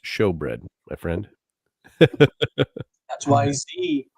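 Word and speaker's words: shewbread: Uh shoe bread is pronounced show bread, my friend.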